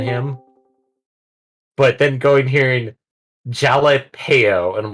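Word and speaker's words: jalapeño: But then going hearing jalapeno, and I'm like, the fuck is a jalapeno? Jalapeno. Well, that's the AI. Yeah, that makes sense. Not I surprised. mean, like I know I mispronounce it Japaleno.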